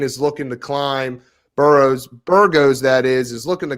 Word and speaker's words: Burgos: pronunciations on this one i've got shane bureau's versus billy quantitaro it's a shane burgos and billy quarantillo court yep billy q